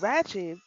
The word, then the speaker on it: Rachab: And Rahab and Rachab in this uh, thing are typically pronounced the same, which we're going to get to.